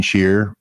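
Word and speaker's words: Scheer: you bring that up into music uh Gene shear and it's spelled s-c-h-e-e-r a double ER Gene cheer and American Anthem I believe is the title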